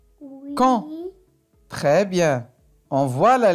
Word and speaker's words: quand: Quand. Oui. Quand.